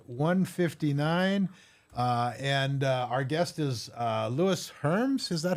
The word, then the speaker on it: Lewis Herms: And our guest is Louis Herms. Is that how you pronounce it?